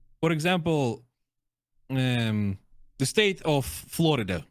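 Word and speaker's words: Флорида: For example, the state of Florida, right? Yeah. In Russian, we say Florida. So the stress moves to the second syllable.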